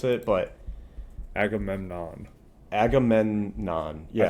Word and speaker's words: Agamemnon: It's spelled differently than I would have spelt it, but Agamemnon. Agamemnon. Yeah. I think you're throwing in a mom at the end there.